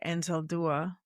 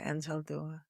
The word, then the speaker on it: Anzaldúa: There's a writer, Gloria Anzaldúa. Yeah, I said it right. Gloria Anzaldúa, who said, ethnic identity is twin skin to linguistic identity.